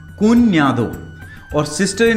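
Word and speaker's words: cuñado: Brother in लॉ को बोलते हैं कुन्यादो, ठीक है। ये याद रखिएगा, ये एन्या है, कुन्यादो।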